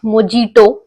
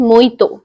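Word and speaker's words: mojito: one glass of virgin मोइतो इट्स नॉट मोजिटो इट्स मोइतो that's how it's pronounced हम सो refreshing I love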